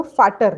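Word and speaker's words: Väter: Becomes आ उमलाउट, और उसका pronunciation थोड़ा अलग हो जाता है, जैसे फाटर, फेटर।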